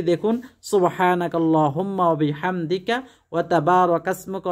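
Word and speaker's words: سبحانك اللهم: অনেকে সুবহানাকা আল্লাহুম্মা বলে, ওইভাবে বললেও হবে, তবে উত্তম হলো সুবহানাকাল্লাহুম্মা মিলিয়ে পড়া।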